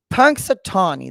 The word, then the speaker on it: Punxsutawney: Okay, so Punxsutawney, that's how you say it, Punxsutawney Phil.